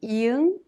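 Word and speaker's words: 이응: And as a final consonant sound, iung is the same sound ng in song.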